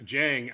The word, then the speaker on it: Dieng: He's the French kid, Ousmane Dieng, I believe is how you pronounce it. Yes, Dieng.